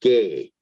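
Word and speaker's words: γῆ: so the first word is GE which is pronounced gay and basically it is world as physical land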